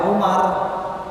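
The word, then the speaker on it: عمر: Jadi kenapa dibaca Umar, ya, itu pada penulisan yang ujungnya nggak ada waw, tapi ketika di tulisan yang ujungnya itu ada waw, bacanya Amr, ya, bedanya gitu.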